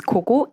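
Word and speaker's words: ㄱㄱ: If we just read it as it is, it should be 기역, but we never say it like that. It's Koko, and it's actually based on English.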